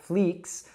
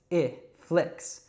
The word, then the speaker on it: flix: And then flicks, so it's not fleeks or flikes, it's flicks.